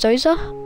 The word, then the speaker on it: Djoser: the Divine body and his name can also be pronounced as zoza and J he was